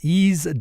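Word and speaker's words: Eaze: compliant legal marijuana delivery that's easy calm which is spelled e a Z e all right time for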